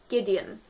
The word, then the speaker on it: Gwydion: She names the kid Gideon. Gideon. The name. I'll spell it for you. Gwydion. That's how Gideon is spelt according to that book.